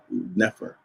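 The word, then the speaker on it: nfr: heart plus the trachea, and they are transliterated using the letters N, F, and R. So we consider that a triliteral because it has three letters, which kind of makes sense. And we would pronounce that Nefer.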